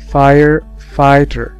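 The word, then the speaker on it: firefighter: اما بالنسبة للاي جي اتش زي كلمة فاير فايتر، هنا الجي اتش ما تنطقوش، الاي بس هي اللي اتنطقت، فاير فايتر فاير فايتر فايتر فاير فايتر.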